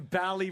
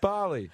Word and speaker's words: Bali: They're going Bally bombing. Ha ha. Yeah, and it's pronounced Barley.